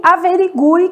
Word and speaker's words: averigue: Então, a gente tem quero, que o U é nulo, sequência, que o U é semivogal, e averigue, que o U tem um som forte, né?